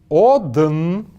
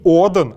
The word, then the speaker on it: одн: Одн. Одн. Одн. Не Оден, а Одн.